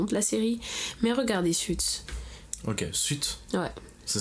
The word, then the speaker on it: Suits: Mais regardez Suits. Ok, Suits. Ouais. Ça s'écrit comment ?